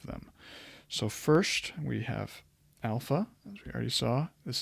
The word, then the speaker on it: alpha: so first we have Alpha as we already saw this is what capital Alpha looks like it's going to be the a sound of Father a a alpha beta